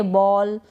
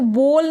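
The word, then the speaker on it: ball: इसको बोल नहीं पढ़ रहे हैं, हम पढ़ रहे हैं बॉल, ऑ का उच्चारण हो रहा है बॉल।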